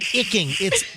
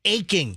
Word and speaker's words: aching: commercial But it's not icking. It's aching.